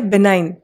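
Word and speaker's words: benign: हमारा first word है बिहाइंड pronunciation में देखेंगे जी यहां पे साइलेंट है बना के चाहे रूट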